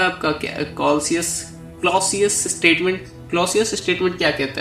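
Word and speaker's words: Clausius: Holi sorry मैं इसका pronunciation सही नहीं बोला। क्लॉसियस होता है। इसका नाम है क्लॉसियस स्टेटमेंट। मैं सेल्सियस पढ़ लिया था।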